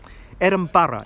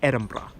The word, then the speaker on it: Edinburgh: we're not sure where the Arthurian legend exactly started, but the first ever reference was right here, a poem about Edinburgh Castle.